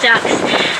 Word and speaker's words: DUKW: It really does come from a military governmental acronym, DUKW, duck with a silent wah.